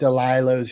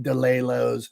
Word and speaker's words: Delilah's: If there's a place called Delilah's, he'll call it Delilo's.